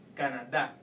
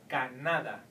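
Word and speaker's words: Canadá: Well, if you take away the sound, the tilde, from the word Canada, then you will have to pronounce it like in the vowel rule, like in the amigo rule. So it will be Canada.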